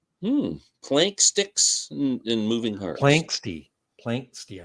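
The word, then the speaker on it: Planxty: Planksty, I think is how you say it.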